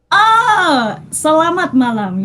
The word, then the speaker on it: Selamat malam: It was literally just Selamat Malam. Is that how you say it? Selamat malam.